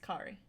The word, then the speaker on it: Kari: By the way, it's pronounced Kari. Like I- the girl from I the messed it up. Incredibles short. Oh, okay. Let me try again. Crazy Kari. Yeah, you usually if it's with a K, it's Kari.